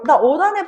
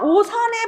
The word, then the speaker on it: 옷 안에: 나 옷 안에 벌레 들어갔어라고 생각을 해 봐. 나 5단에 벌레 들어갔어라고 발음할 때 뭐라고 발음해? 5단에 나 5단에 벌레 들어갔어라고 하지. 이걸 누가 야 나 오산에 벌레 들어갔어라고 하지 않아.